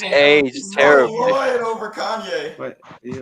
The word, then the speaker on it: Kanye: Kanye. Kenny. Kanye. Oh, I'm from Ohio. We say Kenny. That's how we pronounce it. Well, I don't care where you're from. You pronounce my name Kanye.